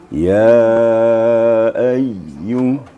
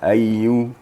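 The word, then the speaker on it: يا أيّ: Tasydid ya itu memang khusus ya. Khusus pemahamannya seperti ya ayyu. Jangan sekadar hanya ayyu, tapi ada sedikit penekanan. Ya ayyu gitu.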